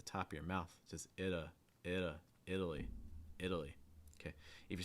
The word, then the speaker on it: Italy: it seems to be italy italy starting with the short i sound then getting a fast d sound and a schwa and then finishing with that long eye idli italy italy italy